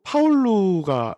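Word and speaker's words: Paulo: 그게 그 포르투갈로 파울루가 이제 발음이 됩니다.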